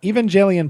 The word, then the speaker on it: Evangelion: Ryan, I once saw an Evangelion poster in your wall in an old video. Did I say that right? Evangelion. Hard G.